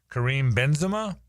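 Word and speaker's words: Karim Benzema: what a rube I am because I can't pronounce it. Kareem Benzema.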